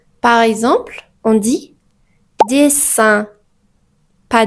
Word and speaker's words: dessin: Quand nous avons deux S entre deux voyelles, cette lettre se prononce comme S, pas Z. Par exemple, on dit dessin, pas dessin, mais dessin.